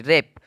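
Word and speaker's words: wrap: से बैंड करते हैं अब देखोगे यहां पे ब्लू आर ए पी ल तो यहां पर ब्लू का जो है कोई भी साउंड नहीं लिख ले कोई भी उच्चारण नहीं निकाला रेप का निकाला है लेकिन डब्लू का कोई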